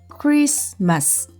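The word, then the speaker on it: Christmas: 회사 틀을 소리내서 적고 말로 발음할 때는 크리스마스 로 t 를 빼고 발음을 하도록 연습을 했던 기억이 있습니다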